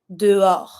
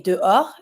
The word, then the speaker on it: dehors: Outside, dehors. Same thing. The H is always mute, so you don't pronounce it, but you're just going to say dehors, and you're going to avoid the S too.